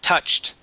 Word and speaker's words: touched: well as touched okay let's get that T at the end of it touched okay touch good okay